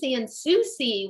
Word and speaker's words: Sansouci: excited today we get to talk to sansouci welcome hi thank you for pronouncing my last name correctly that is rare